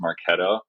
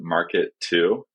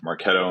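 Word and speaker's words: Marketo: remember in the interview I mispronounced maretto I think I pronounced it Market 2 like Market to or something like that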